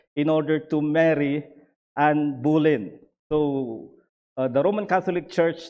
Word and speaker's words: Boleyn: Boleyn ang pronunciation.